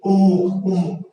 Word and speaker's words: উন্মুখ: তো সভন ঘটলো কেমনে আসলে উন্মুখ এখান থেকে উচ্চারিত হচ্ছে কি উম্মুখ উচ্চারিত রুপটা দেওয়া নেই